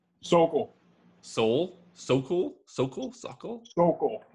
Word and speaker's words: Sokol: Sokol.